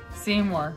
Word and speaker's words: Seymour: is his favorite place Seymour see more you see more you can see more you actually don't you